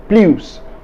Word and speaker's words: plus: in the french language when the word plus is placed at the end of a phrase it is pronounced plus here is another example